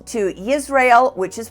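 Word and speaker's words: Yisrayl: changed their names to Israel which is pronounced like Israel with a Y and yakob which is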